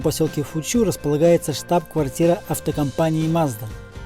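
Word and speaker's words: マツダ: Тут, кстати, в небольшом поселке Фучу располагается штаб-квартира автокомпании Mazda. По-японски, кстати, правильно говорить Мацуда. Как говорил Матроскин, это фамилия такая.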